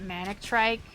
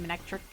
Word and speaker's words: Manectric: I think I always used to pronounce it manic trike, but I think it's supposed to be manectric.